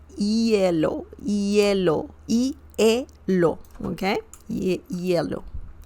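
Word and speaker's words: hielo: the ice excellent uh remember the H sound is silent in Spanish so you don't say hellow you need to say yellow yellow EO okay yellow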